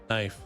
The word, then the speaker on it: knife: Knife. I believe the K is pronounced originally. Just was dropped with time.